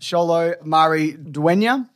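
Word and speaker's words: Xolo Maridueña: really liked I think his name is pronounced cholo Marie duenya who is the the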